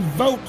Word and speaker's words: Vogt: That Aaron Vogt, currently starting in 6th. I can't pronounce his name 100% right. Vogt is correct. V-O-T-E spelling is how it's pronounced.